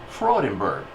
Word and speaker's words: Freudenberg: He said, Freudenberg. I said, Mr. Austry, you got the correct pronunciation. That's the way they say the name in Germany.